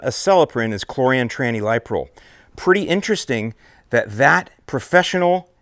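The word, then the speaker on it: Chlorantraniliprole: liquid concentrate version and the way that I pronounce it is choran Tran liol so the active ingredient in the brand name of celin is choran Tran liol pretty interesting that that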